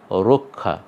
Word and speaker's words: রক্ষা: আর কয় মূর্ধন্য শয়ে যুক্ত যেহেতু আমরা এখানে পেয়ে গেছি, এ কারণে আমরা রক্ষা বলবো না, আমরা বলবো রক্ষা।